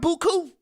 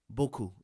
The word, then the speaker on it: beaucoup: need because we got beaucoup. That's a New Orleanian term. That's French for a lot. Beaucoup is the right way to say it. But we say beaucoup.